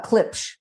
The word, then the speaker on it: Klipsch: Spell it, Anna, for the audience. Klipsch.